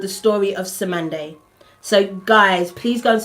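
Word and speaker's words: Cymande: called C y m a n d e Sande c y m a n d e it's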